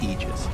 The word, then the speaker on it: aegis: of elite for eg correct pronunciation technically speaking of ages is aegis this it's a literal word we're going to see